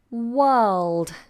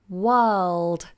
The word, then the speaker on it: world: lot is the word world world a tough one world so the R is silent and the L is sounded so you have to